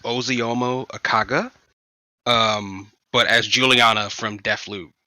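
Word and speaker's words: Ozioma Akagha: Apparently, her name is pronounced Oziomo Akaga.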